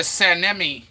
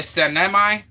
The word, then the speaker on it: Sanemi: said sanmi is what I would have said by reading it but you said a sanemi I probably not even saying it right but that's how you that's how you read it oh oh Muslim people